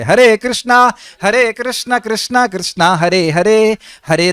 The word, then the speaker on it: कृष्ण: Repeat कर रहा हूं, make sure that your pronunciation is perfect. Perfect means correct होना चाहिए। हरे कृष्णा हरे राम राम हरे कृष्णा, किश किश निश निश नहीं होना चाहिए। वह नाम नहीं है, वो अपराध है।